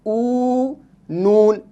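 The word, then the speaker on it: اون: ऊ, अलिफ वाव, ऊ, नून, ऊन।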